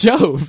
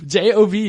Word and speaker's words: Job: No, it's Job. J-O-B is pronounced Job in the Bible.